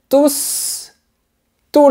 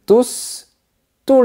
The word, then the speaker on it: tous: La bonne réponse est « Ils aiment tous les chocolats ». Le premier « tous » est un pronom qui fait référence au sujet « il » situé avant. Donc, on prononce le S.